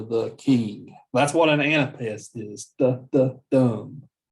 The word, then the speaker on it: anapest: over them all but an anapest there's three syllables on the foot so the anapest is kind of the the the the the dumb that's why that's kind of what an anapest sounds like um oftentimes anapests